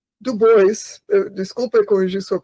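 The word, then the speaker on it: Du Bois: e e do Bois, desculpa corrigir sua pronúncia, mas eh eh W do Bois eh tinha essa ideia de que eh os negros deveriam ser eh liderados pela elite.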